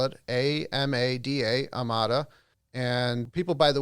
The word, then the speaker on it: Amada: if an individual wanted to learn more about amada about the senior care category generally heck even